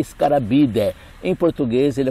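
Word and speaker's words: Scarabaeidae: Do latim se escreve Scarabidae, mas se lê Scarabidae.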